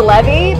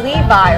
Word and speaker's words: Levy: and I'm like no he didn't even say Levy he said Levi or something like he mispronounced Levy's name and I was like